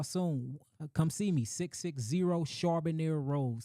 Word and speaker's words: Charbonier: 660 Charbonier Road.